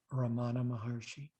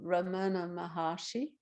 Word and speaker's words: Ramana Maharshi: E esse professor era o Ramana Maharshi, Or the English people would pronounce it Ramana Maharshi. e os ingleses falam Ramana Maharshi.